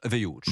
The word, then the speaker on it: Wild: Ça s'écrit Wild, mais ça se prononce Hughes.